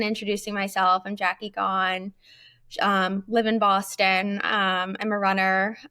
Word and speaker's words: Gaughan: I'm Jackie Gone.